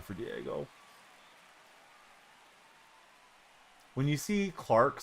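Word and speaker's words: Clarke: Do you want to pronounce it clarky? Because I know I do. I know it's silent once I hear it pronounced, but I always wanted to be like Clarky.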